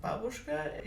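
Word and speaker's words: бабушка: It is pretty funny to me to hear her say Babooshka because I'm a native Russian speaker and Babooshka in Russian is pronounced Babooshka and it stands for grandmother.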